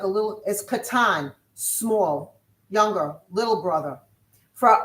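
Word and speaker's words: קטן: No it's showing katan.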